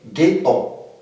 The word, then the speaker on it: ghetto: On a ici le premier exemple qui est ghetto. Ici, comme vous voyez, G plus H nous donne ghetto.